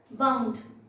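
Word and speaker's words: wound: सो वाइंड का second past participle होता है वाउंड, प्रोनाउंसिएशन है वाउंड। अगर एक नाउन की तरह होगा तो वुंड होगा।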